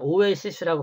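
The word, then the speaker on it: oasis: 이건 오에시스라고 발음해요.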